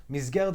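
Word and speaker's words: מסגרת: Misgeret is how you say it in Israel.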